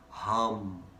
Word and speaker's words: HAM: Now, the mantra for the throat chakra, HUM, H-A-M. Repeat this now in your mind. HUM. With these sounds, they're quite particular. So it's not H-U-M, hum.